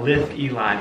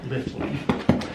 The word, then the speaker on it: Litheli: not say it correctly i always want to say uh liv eli but it's uh lifting i may have to